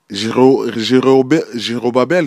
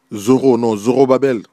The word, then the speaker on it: Zorobabel: Voilà, pendant des années et des années, jusqu'à que peut-être j'ai mal prononcé le nom, Jérobabel, je crois. Jérobabel ou bien... Je pense que Jérobabel. Zorobabel. J'avais mal prononcé Zorobabel.